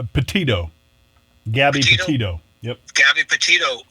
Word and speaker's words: Petito: Is that how you pronounce her name? Petito.